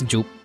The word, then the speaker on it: Ju: I mean, Rhett has learned Ju as the first syllable of my name. Actually, it's Ju.